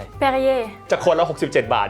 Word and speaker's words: Perrier: เพอร์ริเยร์ จาก 67 บาท จู่ ๆ ก็ พุ่ง ขึ้น เป็น 100 บาท พอ พูด ว่า "Perrier" คุณ ดื่ม มัน บ่อย ไหม ?